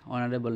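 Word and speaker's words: honourable: 26 হি ইজ অনারেবল ম্যান, হি ইজ অনারেবল ম্যান, এটা যদি আমরা উচ্চারণ করি, প্রনাউন্সিয়েশন করি, অনারেবল, ও এর মতো হয়ে যাচ্ছে, অনারেবল।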